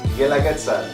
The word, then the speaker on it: Guelaguetza: Guelaguetza. Guelaguetza. I need to get that. I'm gonna get that. Guelaguetza. Guelaguetza. The U is silent.